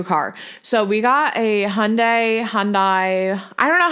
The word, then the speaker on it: Hyundai: so we got a Hyundai Hyundai I don't know how to freaking say it everyone tells me something different someone said in my comments to say it like Monday with an H Hyundai Hyundai I don't know